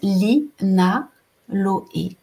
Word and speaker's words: linaloé: une qu'on appelle le linaloé exactement comme ça s'écrit comme ça se prononce Li Na lo e et celle-là elle est